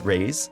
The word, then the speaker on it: Reis: new to my stream, my name is Reis, pronounced like raise. Like, give me a raise at my job, you know? So that's the easiest way I tell people to remember how it's pronounced.